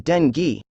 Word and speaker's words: dengue: It is pronounced as dengue.